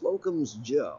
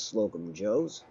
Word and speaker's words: Slocum's Joe: everyone out there but it's locums Joe and I know that doesn't roll off the tongue as easily has slope and Joe's but that there right there proper pronunciation all of our instincts